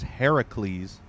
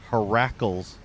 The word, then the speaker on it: Heracles: His true pronunciation in Greek mythology is Heracles, but I pronounced him Heracles for some reason, like shackles.